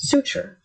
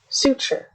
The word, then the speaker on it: suture: Next, suture. Suture. Suture. You can break it down to the word suit and sure.